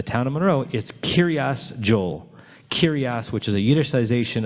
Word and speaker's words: Yoel: of Monroe is Kiryah Joel. Kiryas, which is a Yiddishization of the word Kiryat, which means village of, and Joel is actually, interestingly, an English pronunciation of his name, Yoel, or Yoelish, or Yoeli.